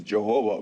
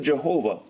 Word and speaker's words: Jehovah: And since he was a Catholic monk, they used to read in Latin, and he pronounced it Jehovah.